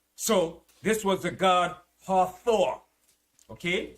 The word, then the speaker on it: Hathor: marriage a plague so this was the god hathor okay it's spelled h-a-t-h-o-r this was a god this was